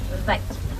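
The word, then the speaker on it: wyd: They get their name from a mispronunciation of the Afrikaans word "vite." Vite means wide.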